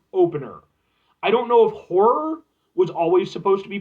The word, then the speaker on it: Ho99or: I don't know if horror was always supposed to be part of the